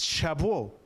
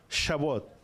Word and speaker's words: Shavuot: Pero la palabra hebrea es Shavuot. Shavuot, di conmigo, Shavuot.